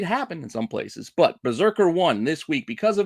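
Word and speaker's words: BRZRKR: Berserker is, I guess, how we want to pronounce it. I mean, there's no vowels, so it is kind of a tough word to kind of just put out there.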